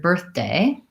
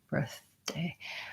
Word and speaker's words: birthday: probably noticing is that going from the th to the D my birthday birthday is that the th sound gets a little bit stopped and I'm not release making a pause I'm not saying birth day with two separate tongue positions I'm making the birth